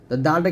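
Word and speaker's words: دال: গাণিতিক মান হচ্ছে চার দালটা কিভাবে উচ্চারণ করবেন জিহ্বার আগা সামনের উপরে দুই দাঁতের গোড়ার সঙ্গে লাগিয়ে উচ্চারণ করবেন দাল এরকম ভাবে তারপর হচ্ছে হা এই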